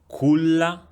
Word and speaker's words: culla: Can you hear the difference between the word culla and ciao in the pronunciation of the letter C? Culla, ciao. In the first one, the C is pronounced K.